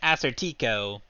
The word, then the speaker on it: Assertico: is my character um I was originally pronouncing it assertico that's how I would read this if I saw it in a text yeah that and that is how I'm going to continue pronouncing it cool all right answer